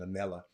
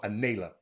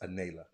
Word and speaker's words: Anella: my girl and and Anella excuse me Anella Thompson no no anayla Thompson she don't like uh uh it's it's it's it's spelled Anella but it's pronounced anayla and uh but thank